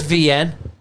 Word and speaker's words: Wian: His name is VN, right? The end. So he's South African, and it's spelled WIAN, right?